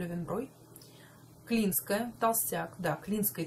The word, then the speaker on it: Löwenbräu: Löwenbräu, который на самом деле вообще произносится правильно Löwenbräu.